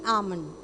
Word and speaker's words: almond: not am almond if when you say ah then L is pronounced but L is silent so it is almond got it so I